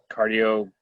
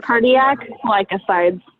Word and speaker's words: cardiac glycosides: So milkweeds do all contain, I'm going to mispronounce this word, Leslie, but cardioglycides or Cardiac glycosides. There you go.